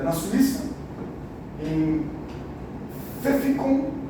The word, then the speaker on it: Pfäffikon: A fundação dela foi, a matriz aliás, é na Suíça, em Pfäffikon, é assim que pronuncia, e nós temos 12.600 funcionários, 207 locais em 38 países.